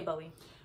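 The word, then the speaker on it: Boie: It's gonna be Bowie. Am I saying it right? Bowie. B-O-I-E. Bowie. We're gonna say Bowie.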